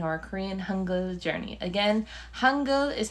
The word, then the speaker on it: Hangul: Again, Hangul is how you say the Korean alphabet.